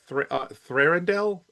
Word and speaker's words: Thranduil: Woodle will play Halvard, Lee Pace will play Thranduil. Thranduil? I don't remember how you pronounce his name. Thorndale.